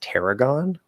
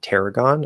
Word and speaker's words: tarragon: think i've heard it most commonly pronounced tarragon so it's be air tarragon uh or well error air error with the our colored third valley you can uh our color a if you want but it's not necessary